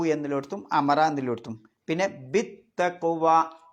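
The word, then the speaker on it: بالتقوى: Bill തഖ്വ എന്നാണ് എഴുതിയത്. പക്ഷെ നമ്മൾ ഓതുന്നത് ബിത്തഖ്വ.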